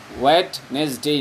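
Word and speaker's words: Wednesday: অন ওয়েডনেসডে, অন ওয়েডনেসডে, ওয়েডনেসডে না ওয়েডনেসডে, ডিটা উচ্চারণ হয় না, ওয়েডনেসডে, অন থার্সডে বৃহস্পতিবারে, শুক্রবারে অন ফ্রাইডে, ডে না ডে।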